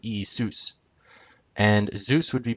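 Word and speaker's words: Ιησούς: In modern Greek, which obviously is how they pronounce it nowadays, Jesus would be pronounced Isus, with the accent on sus. Not Isus, but Isus.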